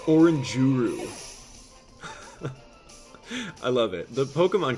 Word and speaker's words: Oranguru: of them yes oranguru oranguru hey abdllah it's pronounced oranguru I love it the Pokemon Community is so